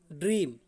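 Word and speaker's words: dream: ई दी जाए और ई के बाद में यदि ए का प्रयोग किया जाता है, तो ए जो है ए हमारा साइलेंट रहता है। जैसे आपका लिखा गया है ड्रीम, ठीक है ना।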